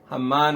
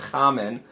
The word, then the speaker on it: Haman: After Haman, it was named Haman. Haman was his name, not Haman, not Haman.